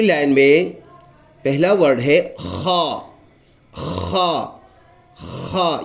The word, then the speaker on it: خ: اگلے دوسری لائن میں پہلا ورڈ ہے خا. خا خا. یہ بھی گلے سے ادا پر تھوڑا سا آواز کو مسل کر کے رگڑ کر کے یا نچوڑ کر کے اس طرح